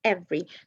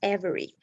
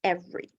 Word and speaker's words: every: yes mr happy every so here we drop the e here okay we squeeze the words every not every it's every okay so the second let